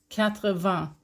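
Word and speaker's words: quatre-vingts: So only here with number 80, 80, with an S at the end. You don't pronounce it though. 80.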